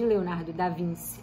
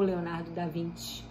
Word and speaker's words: Leonardo da Vinci: Bom, o Homem Vitruviano, que é uma arte de Leonardo da Vinci ou Leonardo da Vinci, as duas pronúncias estão corretas, ela representa a preocupação com a perfeição, a ciência e a centralidade humana.